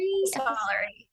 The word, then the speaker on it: epistolary: how do you pronounce that? Epistolary? Epistolary.